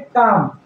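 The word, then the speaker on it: calm: करना होता है इसमें काम तो काम मतलब शांत होता है लेकिन यहां एल तो लिखेंगे लेकिन उच्चारण नहीं करेंगे उसी तरह से पाम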